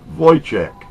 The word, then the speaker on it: Wojcik: Anyways, her name is Hailey Wojcik. Pronounced Wojcik. And here's a copy of her newest CD, and she has innovations with this that are amazing.